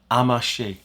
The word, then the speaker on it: Amacher: think the background is I think she maybe Belgian family background so it's a French pronunciation amashi it's a really